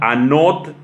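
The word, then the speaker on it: ἄνωθεν: nuevo también es una palabra griega que se pronuncia anoté en palabra griega a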